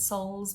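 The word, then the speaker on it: Dr. Scholl's: that I like to use is Dr Souls it's spelled s-h-o-l-l-s so it's like skulls but Souls but play on words kind of thing these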